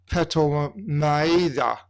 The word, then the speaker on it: Ptolemais: And we, having concluded the voyage from Tyre, arrived at Ptolemais. Ptolemaida is the Greek pronunciation.